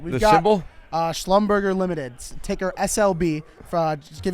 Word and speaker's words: Schlumberger: Schlumberger Limited, ticker SLB.